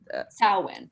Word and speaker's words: Samhain: Samhain. So like Samhain. sow and then like win, like you're winning a game.